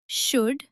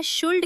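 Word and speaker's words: should: जैसे talk, walk, calf, half, कुड, शुड और वुड। इसे कुल्ड या शुल्ड कहना बिल्कुल गलत है।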